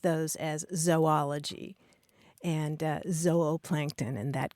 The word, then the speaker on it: zoology: super traditional scientific uh pronunciation would be a long o sound like zoa Plankton or zoology and the reason is